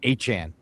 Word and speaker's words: Etienne: out and said that his last name is pronounced Achane.